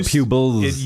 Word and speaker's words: Pubols: the fools it more pupils like Z it used to be a Z and they change it but you still pronounce it like a Z unlike Boise which I